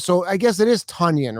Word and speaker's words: Tonyan: it's a wedger so i guess it is tonyan right he wants a tonyan it's funny man